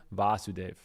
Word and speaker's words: Vasudev: once the son of vasudev and everyone who knows of his previous births calls him vasudev so krishna's name is vasudev with a long a and his father is